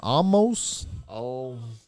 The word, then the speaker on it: Omos: Omos.